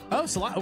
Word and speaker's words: Salida: I'm in Salida right now. Salida.